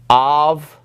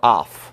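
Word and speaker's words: αυ: These are a little bit tricky because the alpha epsilon is basically pronounced like av or off, okay?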